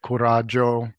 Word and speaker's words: coraggio: So the the things I look at when I'm going to be wanting to activate now courage, coraggio, to use the Italian pronunciation.